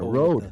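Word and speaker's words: Rode: But it's a road.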